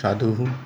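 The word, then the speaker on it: সাধুঃ: আবার সেই বিসর্গযুক্ত সাধুহু, অর্থাৎ আমরা বিসর্গটা হয়ের হালকা হয়ে উচ্চারণ করি, সাধুহু অর্থাৎ একজন সাধু।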